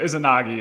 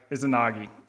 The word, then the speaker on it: Izanagi: Yeah, I mean, my own pronunciation is a little shaky, but Izanagi is how I understand it.